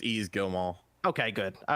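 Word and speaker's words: Yves Guillemot: name how do you how do you say ease easily it's ease Gilmore okay good all right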